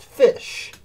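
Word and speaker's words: ghoti: G-H-O-T-I is pronounced fish. You have the G-H in rough. Rough.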